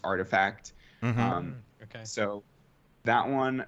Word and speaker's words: RTFKT: uh the rtfkt studios it's actually pronounced artifact um okay so that